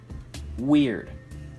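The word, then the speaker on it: wyrd: It's spelled W-Y-R-D, weird.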